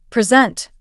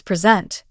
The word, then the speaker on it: present: For example, present, a gift, versus present, to introduce something.